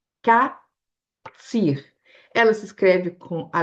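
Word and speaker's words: קציר: A palavra mais usada para colheita em hebraico é catir. Katir. Ela se escreve com a letra cuf, né, que é a raiz, o cuf, o sad e o rech, tá?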